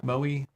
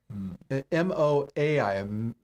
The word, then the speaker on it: Moai: Maui. There's no R in there. Maui. M-A-O-I. M-O-A-I.